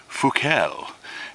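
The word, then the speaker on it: Fuckel: kind of memorized, but Carl Wilhelm Gottlieb Leopold Fuchel, and his last name is spelt F-U-C-K-E-L.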